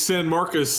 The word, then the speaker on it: San Marcos: it correct him level how do you pronounce it it's San Marcus and this is the